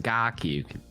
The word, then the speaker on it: KarQ: KarQ is actually my Chinese name. It's pronounced KarQ. Yeah, you say it, Recall. KarQ.